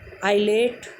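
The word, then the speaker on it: islet: तो अगर किसी स्पेलिंग में बी के बाद एम आता है, मीन्स बी के बाद एम आता है, तो वहाँ पर बी साइलेंट हो जाता है।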